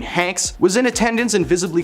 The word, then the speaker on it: Hanks: at Tom's expense by pronouncing his name Tam honks honks I I mean Hanks was in a attendance